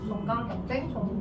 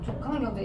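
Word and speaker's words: 종간 경쟁: 경쟁 이렇게 표현하기도 해요 발음에 유의하 되겠죠 종강 경쟁 종강 경쟁 그니까 조강 경쟁 이렇게 하면 안 되니까 아무튼 종끼리 서로다른 종끼리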